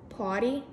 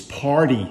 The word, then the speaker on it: party: no R it's arm poty it's party you have to pronounce the r you said no r